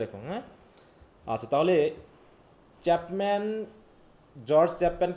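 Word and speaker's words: George: এডমার্ড Spencer, Thomas স্যাকবিল, Philip Sydney, গিউরেস Chapman, আর স্যারটা মনে নাই। জর্জ Chapman, তাই তো? জর্জ, ওটা বলবা কি জর্জ চ্যাপম্যান, হ্যাঁ জর্জ, চ্যাপম্যান। হ্যাঁ এই যে জর্জ, এটা উচ্চারণ হবে কিন্তু জর্জ, হ্যাঁ জর্জ চ্যাপম্যান।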